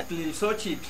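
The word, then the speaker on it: Ixtlilxóchitl: ¿O cómo se pronuncia? Itzilisochitl.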